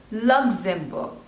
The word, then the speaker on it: Luxembourg: Next is Luxembourg, Luxembourg. So there are three syllables and the stress is on the first one, Luxembourg, Luxembourg, Luxembourg, Luxembourg, Luxembourg.